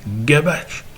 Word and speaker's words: gabache: Pas qu'on s'écrivait, parce qu'on s'écrivait gavache avec un V, mais en gascon, on se prononce B. Donc, gavache devient gabache dans la goule d'un gascon ou d'un espingouin.